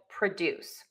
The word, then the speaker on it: produce: When the verb, that's the key here, when we have a verb starting with pro, we are going to shift the stress to the second syllable. And what does that mean? If you said that the first syllable reduces to a schwa, you are correct. So then we will have PROJEKT and PRUH-DOOSE.